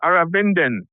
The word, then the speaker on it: Arvindhan: Aravindhan. Aravindhan. It's so easy There to you just say. go. It's just sort of easy to say your first name and then just add an N for the second name, though.